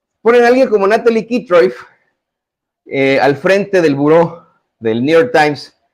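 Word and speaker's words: Kitroeff: usted las notas de Natalie Kitroev, o Kitroev, o Kitroyev, como sea que se pronuncie su apellido.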